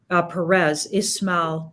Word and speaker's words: Ismail: I did with Ismail, got to say his name right, Ismail Perez. I think that's how he got me to say it. He was teaching me how to say his name before we went on.